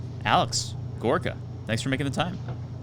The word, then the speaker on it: Gorica: how it's supposed to sound, like based on how it's spelled. But it's actually like Gorica. What? Yeah, it's my last name, and then my dad's side of the family, where it comes from, pronounces it Gorica because like I don't know. That's just how it's supposed to be pronounced from like Turkey.